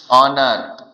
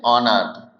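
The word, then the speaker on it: honour: जैसे कुछ वर्ड देखिए, ऑनर, क्या कहते हैं इसे? ऑनर।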